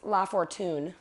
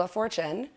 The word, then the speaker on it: LaFortune: LaFortune. I feel like when I first found you on Instagram, I thought your last name was LaFortune. LaFortune, but it's actually LaFortune.